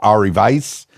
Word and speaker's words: Ari Vais: And where do you find yourself, Ari Vais? Am I pronouncing that correctly?